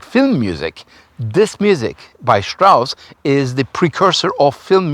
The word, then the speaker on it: Strauss: And Strauss, in German, ST makes the st sound. So Richard Strauss.